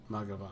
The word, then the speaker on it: Mathghamhain: Mathghamhain. Mathghamhain. It's Ma. Ma. I had to. I'm sorry. Ga, Ga. or Gov, either way. Van. Van. Mathghamhain.